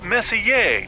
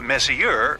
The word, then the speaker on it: Messier: the m stands for Messier pronounce Messier not Messier as in is your room messier than mine Charles Messier I mean